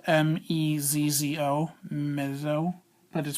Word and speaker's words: mezzo: for middle or medium and it's spelled m-e-z-z-o mezzo that is pronounced mezzo and the next Dynamic marking we